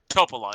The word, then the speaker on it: Topola: Topola is the pronunciation.